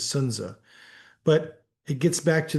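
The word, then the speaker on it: Sun Tzu: gets back to Sunza the Sunsu most people call him the correct pronunciation is Sunza but it gets back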